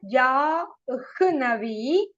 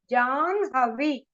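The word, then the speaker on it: जाह्नवी: So, Janhavi should be pronounced as, not Jahnavi.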